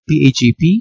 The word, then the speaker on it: PAgP: Alright, PAGP right here and LACP protocol. Okay, so let's start off with the first protocol. Okay, the PAGP, pronounced as PAG-P.